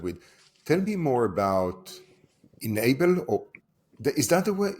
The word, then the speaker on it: ennabl: tell me more about inable or is that the way is that the right way to pronounce it enable right enable yeah the misspell is